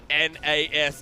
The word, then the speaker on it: Nashor: Nashor. It's time. Nasha? Oh, it's Nasha. Baron Nasha time.